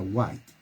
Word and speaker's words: White: esta mujer en l qué guay se pronuncia white tuvo una vida un